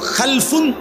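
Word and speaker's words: خلف: হয় আরবিতে একটা হল খালফুন আরেকটা হল খালাফুন একই শব্দ শুধু উচ্চারণের মধ্যে একটু ভিন্নতা মাঝখানে একটা লাম আছে। এই লামটার মধ্যে যদি সাকিন হয় তাইলে হল খালফুন। আর যদি লামের মধ্যে জবর হয় তাহলে হল খালাফুন।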